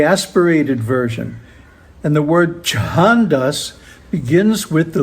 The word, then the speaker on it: chandas: And the word chahandas begins with the letter cha in IS ordinary cha is just cha but chaha is cha the aspirated version.